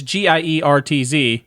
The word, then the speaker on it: Giertz: Mispronounced it last time because Giertz. It is... Yeah, it's Giertz, but it's Giertz. Because Sweden.